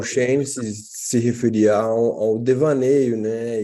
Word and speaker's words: devaneio: Devaneio.